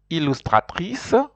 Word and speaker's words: illustratrice: Illustratrice. In R in French, R's are important, so that's why you will hear that the R is well pronounced.